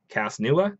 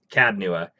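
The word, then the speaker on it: Cad Nua: The only quest that I have going on right now is to find Cas-Nua. Did I say it right? Cad. Cad-Nua.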